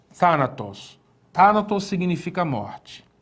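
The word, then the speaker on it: θάνατος: Veja, o acento em Thanatos vai surgir exatamente aqui, ó. Na antepenúltima sílaba, né? Temos aqui tá, na, tos. Então, onde está o acento? Está na antepenúltima sílaba. É uma proparoxítona, né?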